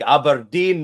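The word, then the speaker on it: Aberdeen: time there that's brilliant you got to say it like aberin though whenever you address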